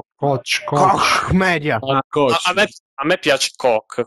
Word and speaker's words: Koch: Dice no, in realtà sono tedeschi, si legge Koch, penso. Koch Media.